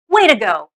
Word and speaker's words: way to go: It should slide out of your mouth as, way to go. We do not pronounce the to fully.